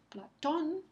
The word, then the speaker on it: Platón: Entonces, Platón, por ejemplo, esa tilde sobre la O marca el acento prosódico, porque Platón, es la sílaba que recibe el énfasis.